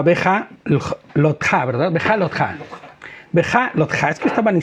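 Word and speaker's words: בהעלותך: Y bueno, pues vamos a empezar sin más preámbulos con nuestra parashá, que quedamos que se pronunciaba Beja Lotja, ¿verdad? Beja Lotja.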